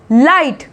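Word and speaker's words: light: लाइट, लाइट। ठीक, जी एच का sound यहाँ पे जो है साइलेंट होता हुआ दिख रहा है।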